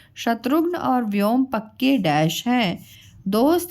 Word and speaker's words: हिंदी: और हम बोलते हैं हिंदी।